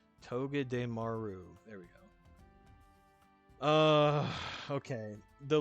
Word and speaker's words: Togedemaru: So I'm going to go ahead and put Buzzwole in Awesome, right above Excadrill, but below Togedemaru. Why do I always say that name wrong? Togedemaru.